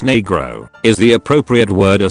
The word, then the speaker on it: negro: Negro, pronounced negro, is the appropriate word a Spanish-speaking child would use for the color black.